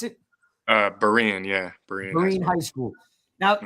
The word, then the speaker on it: Berean: if I pronounce it right it's is it Berry and high school is that how you pronounce it uh Berean yeah Marine high school now look you get